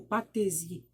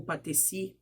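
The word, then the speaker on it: patesi: o chefe político era conhecido como patrese ou patrice dependendo da do jeito que vocês quiserem pronunciar eu pronunciaria patrese mas já houve outros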